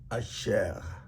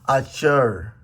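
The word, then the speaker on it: אשר: Jews from Israel, they born in Israel, they mention this like a French R, Asher. So, but in English, if you want to say that, you can say Asher.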